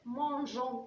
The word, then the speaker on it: mangeons: Alors pour prononcer je, j'ajoute le e. Mangeons, nous mangeons ensemble.